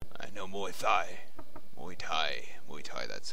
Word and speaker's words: Muay Thai: Muay Thai, that's how you pronounce it.